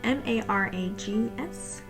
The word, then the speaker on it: Marags: We have been mentioned, at least I believe that's how it's said, M-A-R-A-G-S, Marags, something like that.